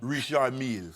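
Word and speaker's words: Richard Mille: So how hard must pronounce it correctly. Richard Mills.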